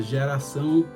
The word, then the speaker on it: geração: O C, cedilha, ele adquire a sonoridade de S, né, quando tem a cedilha. O ditongo no final, o ão, né, ele é um ditongo decrescente, né, ao, né, só que nasalado, ão.